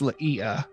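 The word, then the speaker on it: Li'ia: one moment because I might have said her name wrong uh her name is Leia l i apostrophe I a Le and what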